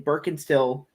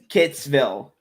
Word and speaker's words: Burkittsville: What 90s found footage horror film is set in Birkenstill? No, Birkitts. God dang it. You don't need to put the phonetic pronunciation of this. Burkittsville.